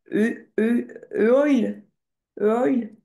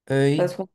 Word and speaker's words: œil: O E I L. Attention, sinon ça fait un oil oil.